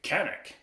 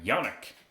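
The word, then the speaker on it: Canik: A Canic, or Yannick, if you're in Turkey, or Janik, depending on which way you like to pronounce it.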